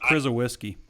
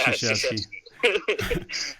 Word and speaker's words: Krzyzewski: It's pronounced Krzyzewski. I haven't even had coffee yet. That's why I was like, this is the podcast. Mike Krzyzewski.